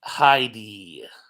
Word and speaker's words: Hedy: name um Edmond was as heady pronounced Heidi uh so he's saying